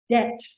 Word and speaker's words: debt: Let's start with debt. This word the B is silent.